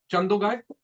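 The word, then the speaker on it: Chandogya: छंदोगाय, छंदोगाय, छंदोगया, ठीक है, स्पेलिंग ध्यान दे।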